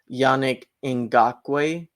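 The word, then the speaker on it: Yannick Ngakoue: So the way you pronounce it, Zach, is Yannick Ngakwe is the pronunciation.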